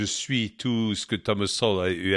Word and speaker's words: Sowell: le sujet de Thomas Sowell, si on le prononce à la française. En anglais, on dit Thomas Sowell, qui, à mon avis, est une des plus grandes tronches économiques de ces quelques dernières décennies.